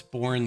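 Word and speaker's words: Boerne: It's born, the E is silent.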